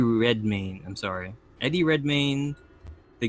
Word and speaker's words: Redmayne: So I can't pronounce his name right, but it's God, Eddie Redmayne.